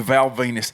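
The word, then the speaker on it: Val Venis: Let's call you Val Venus because it rhymes with penis.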